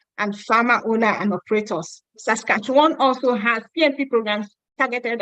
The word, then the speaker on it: Saskatchewan: a lot of people ask me how to pronounce that Saskatchewan okay so Saskatchewan has basically in a broad